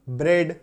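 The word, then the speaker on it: bread: तो अगर आपको किसी शब्द में ई ए देखने को मिले तो समझिए वहां पे उच्चारण जो है वो एकार की मात्रा लेकर के आएगा। जैसे कि बी आर ई ए डी ब्रेड, एच ई ए डी हेड।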